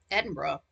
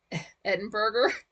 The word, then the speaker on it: Edinburgh: Edinburgh. Eden, Edinburgh. It's not pronounced burger like the food, is it?